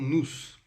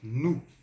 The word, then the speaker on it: nous: E o S aqui a gente não vai pronunciar.